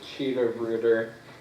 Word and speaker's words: Tschida-Reuter: Thirsty hi Dan um cheetah Brer actually is how you pronounced my last name thank you I'm sorry